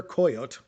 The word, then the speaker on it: Coyote: It's uh narrated by Peter Coyote uh spelled like coyote.